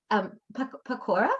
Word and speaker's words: pakora: Pakora, is it pakora? Pakora, right? Pakora, Yes. pakora, yeah. Yeah. You're bang on. Yum. And You pronounce it better than most Indians, so don't worry.